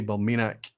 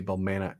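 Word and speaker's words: Balmenach: pronounce a oh many so if i say balminik you would say bulmanic right it's probably through an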